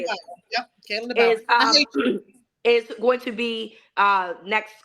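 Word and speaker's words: Kalen DeBoer: Yep, Kalen DeBauer.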